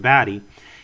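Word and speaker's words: Batty: Roy baddy is actually his name is pron pronounced baddy he is fast and skilled at combat with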